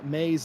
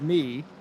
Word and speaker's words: May: But Verena May's name, I pronounce it me, and it is very much May.